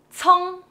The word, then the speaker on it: 葱: The word of the day today is very simple, 葱, which means genus alliums. All type of genus alliums pronounced in some type of 葱.